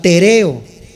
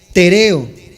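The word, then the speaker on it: τηρέω: La palabra guardar es la palabra tereo, con acento en la segunda E, tereo.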